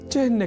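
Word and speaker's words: चिह्न: गया है यहां हमने चिन्न के उच्चारण और लेखन पर दिया है विशेष अवधान अर्थात चिन्न में अर्ध ह का के बाद न इस अक्षर का संयोग होता है ना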